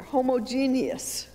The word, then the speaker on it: homogeneous: world are the most you don't say each syllable here homogeneous this is our starting